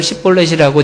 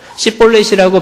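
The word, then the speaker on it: Shibboleth: 우리나라 성경에는 십볼렛 이렇게 돼 있지만요, 영어 성경에 보면은 이 십볼렛이라고 하는 게 SH 발음입니다. 쉬 발음. 그런데 에브라임 사람은 쉬 발음을 안 된대요. 그래서 시 발음밖에 안 된대요.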